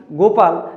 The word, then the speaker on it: গোপাল: তো আমরা যখন পড়ার সময় উচ্চারণ করব নাকি গোপাল নামটা দেখো গো প্রোনাউন্সিয়েশনে ও আসছে তো ওখান থেকে মনে রাখবে